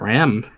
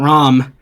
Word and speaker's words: Rom: Most people get Ram relatively, or not Ram, Rom relatively correct. Rom-com. Rom com. Every time I see her name, I end up saying Ram, and I'm like, nope, it's not Ram. Stop saying it wrong.